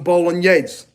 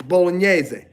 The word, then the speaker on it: bolognese: Technically, I don't like when Italian Americans leave off the E. They go, I need some mozzarella. I need some bolognese. And they think they're talking in dialect. They're not talking in dialect. They're just not pronouncing their words properly. It's bolognese. Mozzarella.